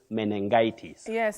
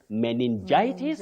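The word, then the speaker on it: meningitis: pneumonia Betty you must have heard people saying menes have you heard that menes but imagine we don't have such a word in English really what we have is men men men not many menes that I know is a surprise to many surprise to me too so sure sure we say menitis and we say pneumonia not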